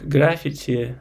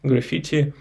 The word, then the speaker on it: graffiti: fine graffiti yeah uh in Russian it's pronounced like graphity that's why uh it's a little bit different in English for me graffiti uh the painting on